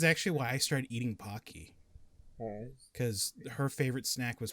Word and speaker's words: Pocky: it pokey i said it wrong no it's pocky i say pog no no i say okay that's right i say there's some people that pronounce it as pokey you're wrong those people are wrong and it's